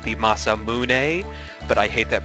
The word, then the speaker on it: Masamune: Trigger where you found the legendary sword the masam moon which I believe is actually pronounced the masamune but I hate that pronunciation I think it's